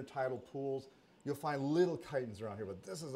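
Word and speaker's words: chiton: right here these are kitens too and it's spelled c h i t o n the chi is pronounced Kai so there's one for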